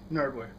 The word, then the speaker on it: GNerdwear: The G is silent. Nerdwear.